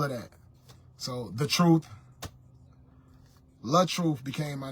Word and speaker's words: LaTruth: the artist side you guys know me as L truth L truth l a t r u t some people